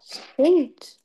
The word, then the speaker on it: thought: Euh, c'est penser, c'est thought. Non, thought. Ouais, c'est ça. Thought. Thought. Thought, Comme je te thought. l'ai dit, le TH, tu mets ta langue entre tes dents et tu prononces.